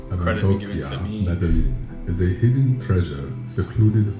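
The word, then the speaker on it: Medellín: I found out that Medellin, and by the way, I pronounced it wrong. It's not Medellin, it's Medellin, is located in Colombia, and they don't have a coffee company.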